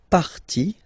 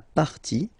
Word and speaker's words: partie: And then when they're ending with IE, like here, okay? So basically you don't pronounce the E, okay? So it will be only the sound I, okay?